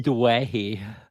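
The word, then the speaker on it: Doueihi: I'm not sure how to pronounce his last name, so we'll leave it at that. It's Dwayne. Yeah, okay.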